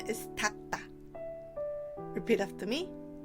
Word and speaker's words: 닦다: We write 닦다 like this, but the pronunciation is 닦다. Repeat after me. 닦다.